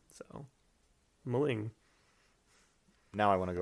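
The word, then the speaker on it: M'ling: then so it's like you just pronounce the letter and then the next one just picks up so mulling now i want to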